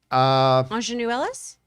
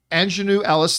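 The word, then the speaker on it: Aunjanue Ellis: I always mispronounce her name because I read it 1,000 times. Ingenue Ellis? Ingenue Ellis, thank you, for King Richard.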